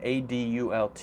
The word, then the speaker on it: adult: with any other pronunciation ad ult is has actually two pronunciations its adult and adult and people say both